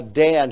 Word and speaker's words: Dan: L or judge of God and so uh Dan here is how you pronounce this for judge and what does it